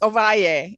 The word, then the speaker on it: Ovalle: Double L is a Y, right? Well, it's Ovalle.